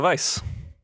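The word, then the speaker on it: Weisz: how do you say rachel weiss's name rachel vice okay and rachel vice uh are in this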